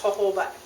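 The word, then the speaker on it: jojoba: oil in the scrub it's j o j o b a and it's pronounced hoba oila all right now that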